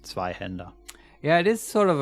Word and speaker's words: zweihander: gore ah for once i know how to pronounce zweihender yeah it is sort of a contradiction in